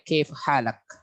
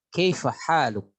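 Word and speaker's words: كيف حالك: Ada juga dengan dialek kaif halak. Kaif halak ya, kaif halak. Nah, itu yang pasarannya seperti itu. Kaif halak ya, seperti itu ya. Tapi kalau umpamanya yang resminya kaif haluk?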